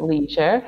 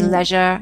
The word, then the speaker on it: leisure: So actually, I would pronounce it leisure in Oh the yeah, United there you are, States.